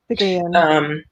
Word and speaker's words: Picayune: Is that how you pronounce it? It's Picayune? Picayune. Yeah. Yeah. Picayune.